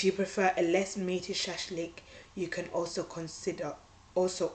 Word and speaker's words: shashlik: horse meat if you prefer a less meaty shashlik you can also consider also order grilled skewers